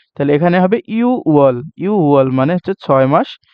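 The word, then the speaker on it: 유월: আর শিব মানে 10 এই দুইটা ক্ষেত্রে মাস গণনার ক্ষেত্রে নিচের বাচ্চিম দুইটা হয় না ইউকের ইউকের আপনার গিয়কটা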